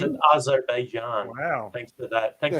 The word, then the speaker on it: Azerbaijan: it's in Azerbaijan. Wow. Thanks for that. Thanks for time zones. Is that how you pronounce it? Bobby, you're our resident ethnic man. So, Azerbaijan.